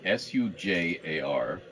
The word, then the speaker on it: Sujar: Sujar, S-U-J-A-R, but pronounced Sujar, is an Orog city.